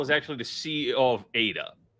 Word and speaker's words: ADA: got that out correctly it's pronounced Ada it is a formal name for ad Lovel it is not Ada but hey to each